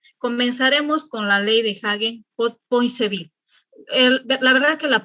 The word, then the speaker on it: Hagen-Poiseuille: Comenzaremos con la ley de Hagen-Poiseuille. La verdad que la pronunciación es muy distinta. Algunos lo leen en español y dicen Hagen-Poiseuille, pero yo estoy tratando de manejar un poquito el inglés.